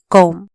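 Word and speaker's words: comb: बी कॉम बी साइलेंटचा सी ओ एम बी कॉम पो study S टी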